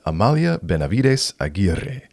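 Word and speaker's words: Amalia Benavides Aguirre: good that I had to look up a pronunciation guide to say it correctly we've got Amalia Benavides aier my apologies to the Spanish speaking Community but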